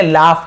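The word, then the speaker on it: laugh: लाफ, इसे क्या पढ़ेंगे, लाफ पढ़ेंगे, लॉग नहीं पढ़ेंगे, लाफ। फ उच्चारण, लाफ, लाफ यानी हंसना।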